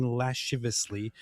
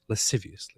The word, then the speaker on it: lasciviously: There is however no objection in other enjoyments like touching lashivously, hugging and whatever and rubbing. How do you say it? Lasciviously.